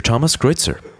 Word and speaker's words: Thomas Kreuzer: Thomas Kreuzer. Well, thanks for having me. Did I pronounce it correctly? Yes, pretty much. Okay. Yes, that's the international pronunciation of my name.